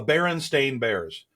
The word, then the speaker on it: Berenstain: The Berenstain Bears.